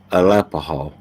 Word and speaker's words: Alapaha: names Rivers and Creeks uh alapaha that's the how it's uh pronounced uh like it's gonna